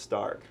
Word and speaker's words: Staruch: No, Stark. You got it. It's spelled Stuk, but it's pronounced Stark.